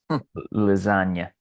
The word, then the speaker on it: lasagna: go with just a another classic silent G lasagna ah love lasagna it's